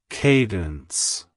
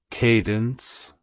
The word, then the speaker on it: Kadence: rhythmic flow of a sequence of sounds it's pronounced as Cadence Cadence Cadence to pronounce it correctly emphasize the KY and